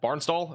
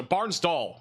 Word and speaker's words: Bartlesville: Barnes Dole or doll Barnes doll is it Barnes doll is that how you say it doll okay I got you okay so Barnes doll sorry in Oklahoma this